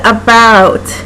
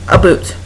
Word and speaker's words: about: in Southern Ontario and we don't pronounce about as a boot don't know it number